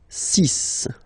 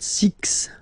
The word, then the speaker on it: six: be careful here because even if it's ending with this x well you'll have to pronounce it like s okay so you get the sis pronunciation sis okay so it's not six it's sis all right